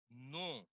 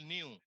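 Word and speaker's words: knew: সি নো, এটার উচ্চারণ হচ্ছে নু, এই দীর্ঘ। আই নু দ্যাট, আমরা পড়তাম আগে ছোট্টকালে নিউ, কেন জানো?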